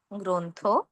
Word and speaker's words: গ্রন্থ: অধ্বনির সঙ্গে রফলা থাকার কারণে আমরা গ্রহ না বলে ও এর মতো উচ্চারণ করব গ্রহ। প্রকাশ না বলে ও এর মতো উচ্চারণ করব প্রকাশ। শ্রম না বলে ও এর মতো উচ্চারণ করব শ্রম। একইভাবে গ্রন্থ, ব্রত, প্রভাত। আবার বলছি, গ্রহ, প্রকাশ, শ্রম, গ্রন্থ, ব্রত, প্রভাত।